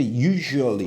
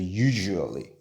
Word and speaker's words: usually: 근데 usually 이렇게 돼요. SU를 z라고 하지 않고 그냥 ju라고 해도 돼요. 그래서 usually 한 거죠.